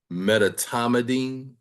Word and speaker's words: medetomidine: How do you pronounce the Medetomidine. Medetomidine?